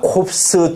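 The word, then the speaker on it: corpse: 묵음이다 피만 묵음이다 어 그러나 콥스 둘 다 발음 다 한다 그러면 이거랑은 전혀 다른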